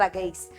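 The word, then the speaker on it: bagasse: इस बार need to maximise the यूज ऑफ बगेइस। अब इसका जो प्रोनाउंसिएशन है ये बहुत ज्यादा सब्जेक्टिव है, अलग अलग लोग अलग अलग तरीके से बोलते हैं, पर मैं तो बगीस बोलती हूँ और आप लोग इसे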